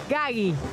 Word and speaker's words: Gaggi: el terror es total pronuncio mal pronuncio mal es gagi Ay dioso sabía lo